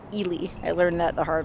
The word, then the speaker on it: Ely: which by the way you might be like me and think it's pronounced eli ila's come in had your hot girl but it's actually ely i learned that the